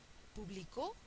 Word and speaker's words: publicó: esdrújula que lleva tilde publicó es aguda y lleva tilde y esta otra